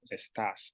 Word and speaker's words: está: You would have to use a third person verb, which is estás. So it's el. No, I said it right. Está. No S. It's el está.